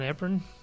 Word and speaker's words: Van Eperen: You did, Eperen. Which is impressive because it's very commonly mispronounced.